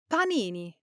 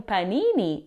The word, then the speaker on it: panini: For pronunciation, make sure the a in p is an open, clear a sound, like the a in pasta or father. English speakers often make it too soft, like a p, but that's incorrect.